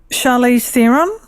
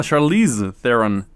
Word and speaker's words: Charlize Theron: was it charlie oh charlie's theorem am i saying a name wrong maybe charlize ah charlize theron let's see i do